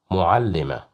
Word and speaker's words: معلمة: معلمة, معلمة, معلمة. Here we have dhamma, so that's why we pronounced it as mu, معلمة.